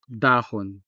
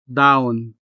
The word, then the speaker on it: dahon: The stress falls on the first syllable, da, and the consonant ha is part of the unstressed syllable, hon. Therefore, the consonant sound ha sounds weak, if not quite disappearing.